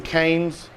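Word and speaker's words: Kohen's: So I'm going to demo this to go with our grass-fed organic beef short ribs that came from Cane's. It's spelled like K-O-H-E-N, but it's Cane's organic grass-fed beef.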